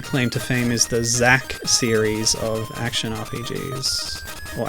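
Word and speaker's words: Xak: It looks like their big claim to fame is the Zack series of action RPGs. Or action, what are they? Action adventure? It's spelled X-A-K.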